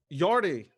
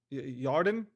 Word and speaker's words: Yarden: Okay, uh, Yardy, Yarden, because I'm gonna pronounce it like Garden.